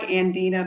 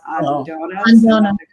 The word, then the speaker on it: Andona: Kamara so again it's andona sand Kamara it looks like andina but it it's pronounced andona yes right where where